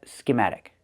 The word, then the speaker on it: schematic: And the second word is schematic. Put the stress on the second syllable, ma, schema. Schematic. The t changes to a fast d. We hear matic, schematic.